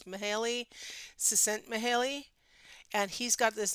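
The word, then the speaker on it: Mihály: Mihaly, I want to call him Mick Hale, but it's Mihaly, Csikszentmihalyi.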